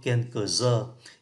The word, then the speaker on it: œufs: Trứng số ít đọc là un œuf, số nhiều đọc là quelques œufs.